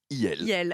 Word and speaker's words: IL: c'est il le parti de Marion maréchal se prononce il voilà elle est devenue c'est le grand remplacement